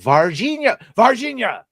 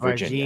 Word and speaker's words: Varginha: Varginha. No, not the mispronunciation West of Virginia.